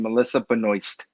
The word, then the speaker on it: Melissa Benoist: she's american um and she know her name in the french way she pronounced her name melissa benoist okay so anyway i